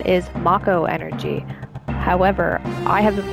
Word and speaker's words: Mako: Now, I will state, yes, the proper pronunciation is Mako energy.